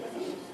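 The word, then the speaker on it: bacilos: vasil vasil villos vacilos describe vacilos se pronuncia vacilos eh es uner es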